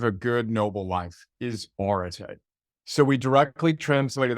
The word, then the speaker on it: Areté: To step back, so Areté is how you pronounce that funny looking Greek word on my t-shirt and